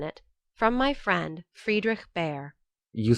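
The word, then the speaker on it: Bhaer: at his horrid name it isn't pronounced either bear or a beer as people will say it but something between the two as only germans can give it i'm glad you both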